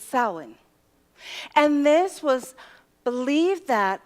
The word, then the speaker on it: Samhain: And it's spelled differently than you would think it sounds, but it's Samhain.